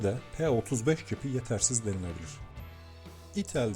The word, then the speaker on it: itel: p35 cipi yetersiz denilebilir itel diye telaffuz ediliyor sanırım s23 modeli 16 puan